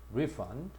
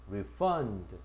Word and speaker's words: refund: 자 여기에 명사를 봐라. 역시 앞에 있다. refund 동사는 refund 뒤에가 있지. 동사의 강세는 대부분 뒤쪽이고 명사의 강세는 대부분 앞쪽이 온다.